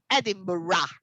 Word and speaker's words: Edinburgh: but that is the the spelling of uh this word is edinburgh no without g you don't even mention the g don't look at the word look at me and repeat edinburgh edinburgh yes yeah i know